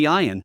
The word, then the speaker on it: ἰοίην: Today's Greek pronunciation would be iìin, a prolonged and hopeful I.